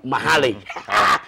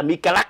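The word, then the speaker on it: Michael McCallack: McCallack đọc là Mahaley. Trông thì cái tên nó ngộ lắm, mà tôi nói chuyện đó mà không, tên tôi đọc là Mahaley. Đọc viết là Mikalak nhưng mà đọc là Mahaley.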